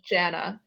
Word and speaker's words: JVNA: Yeah, I think it's pronounced Jana, but the Jana, V, the first A is a V.